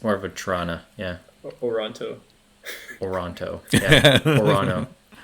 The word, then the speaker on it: Toronto: is silent the first one you have to pronounce yeah it's more of a Trana yeah oronto oronto yeah orano Here's a thought